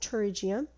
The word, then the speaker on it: pterygium: another condition called pterygium it also starts with the p but it's not pronounced it's pronounced pterygium and the pterygium is